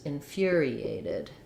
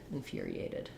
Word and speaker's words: infuriated: aided uh the Ted we use a flap for that t so it sounds like the word did and first syllable stress infuriated infuriated I was infuriated when